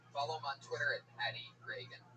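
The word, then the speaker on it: Regan: Not like Ronald Reagan. It's announced like Ronald Reagan. Pat Reagan, but there's no A in that. Follow him on Twitter at Reagan.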